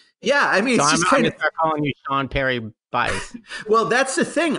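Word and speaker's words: Peri: Perry its parrying yeah PE RI Perry it's spelled it's pronounced just like if it was like Perry melnichuk first name but in fact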